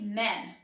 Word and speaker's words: man: Man. Dá um sorrisinho quando você for falar man no singular. Homem. Quando você for falar no plural, fala um pouco mais sério.